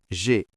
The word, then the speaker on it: grande: On ajoute un E. G-R-A-N-D-E. Ce E vient toucher le D et lui ordonne de parler. On entend enfin le son D.